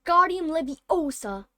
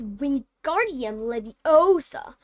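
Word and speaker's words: Wingardium Leviosa: much more luck with Guardian Libby Osa he said waving his long arm like a windmill you're saying it wrong Harry heard Hermione snap it's we guardium Leviosa make the guard nice and long you do it then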